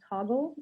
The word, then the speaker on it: Toggl: So if you want to use your planner, or if you're digitally inclined, there's an app called Toggle. It's spelled Toggl.